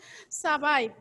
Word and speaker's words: survive: উচ্চারণটা হবে না, কারণ কনসোনেন্টের আর এর পরে যদি কনসোনেন্ট থাকে তাহলে ওই আর এর উচ্চারণটা হয় না। হ্যাঁ, সারভাইভ।